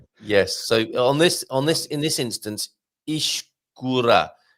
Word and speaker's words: escura: So in this instance, escura. A soft E. When you say escura, you're pronouncing it almost like you would an I.